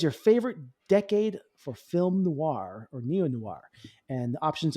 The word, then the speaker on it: noir: You mean for noir?